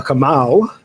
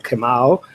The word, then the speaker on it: Kamau: as we call it, a Kamau, that's the proper way to say it, if you are a Kamau.